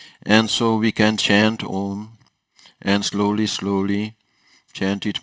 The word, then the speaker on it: Om: ohm is important that in the West we very often say oh it is actually the wrong pronunciation of all ohm should be set with a mouse in which there is no tension so if we say oh there is a tension in the lips like if we say